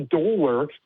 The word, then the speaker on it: Dolor: My first name is actually Dolor, and it's pronounced the er sound, and it comes from the word dolorosa, the way of grief that Jesus walked.